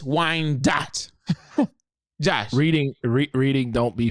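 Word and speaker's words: Wyandotte: the whole name up it is actually pronounced as Wine Dot so mortar City Kicks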